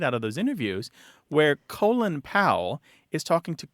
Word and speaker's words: Colin: actually talked to people whose names are c o l i n who pronounced them colon and said what up